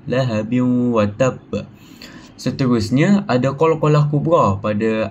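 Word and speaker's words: لهب وتب: So hukum membacanya adalah dengung dan dimasukkan dalam huruf wau. Maksudnya lahabi ada wau dia kita dimasukkanlah ke dalam huruf wau tu dan ditahan dalam dua harakat. Lahabin watab.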